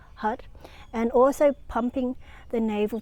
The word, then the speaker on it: Har: would know is creation h-a-r pronounce h-u-d we want to strike the roof of the mouth with the tip of the tongue as we chat hut and also pumping the